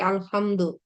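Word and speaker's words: الحمد: হয়, যার কারণে আমরা সূরা ফাতিহাতে দেখেছি কি আলহামদু, এই জন্য উচ্চারণ করার সময় দেওয়া যায়, কিন্তু লেখার সময় কোনোভাবেই দেওয়া যাবে না, দিলে সেটা গ্রামাটিক্যালি রং হবে।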